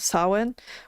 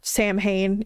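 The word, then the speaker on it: Samhain: It's it's around it's like saw it's the celebration of sawin which um is the Irish pronunciation of Sam Hayne if you've seen Sam Hayne which is essentially just a harvest festival.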